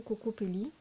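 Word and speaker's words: Kokopelli: Alors c'est Cocopelli ou Cocopelli, mais je prononcerai plutôt Cocopelli.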